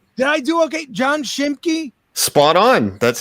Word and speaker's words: Schimke: You were great with the pronunciations. Did I do okay? John Schimke?